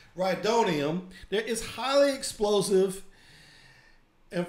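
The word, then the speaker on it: rhydonium: kind of explosive called reitonium i i think it's how you pronounce it rydonium that is highly explosive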